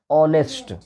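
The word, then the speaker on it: honest: तो लगा देते बोलिए प्रोनाउंस कीजिए क्या बोलेंगे इसको ऑनेस्ट ऑनेस्ट ओ ऑनेस्ट नो नेस्ट नहीं होता है नेस्ट नहीं होता है ऑनेस्ट ऑनेस्ट ओ आ रहा है ना ऑनेस्ट ऑनेस्ट ओ आता है तो ओ क्या है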